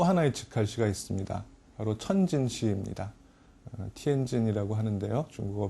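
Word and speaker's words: 天津: 티엔진이라고 하는데요. 중국어 발음으로는 명칭을 보면은 이 천자가, 그러니까 황제가 건너갔던 나루, 황제가 도하한 나루라는 뜻입니다.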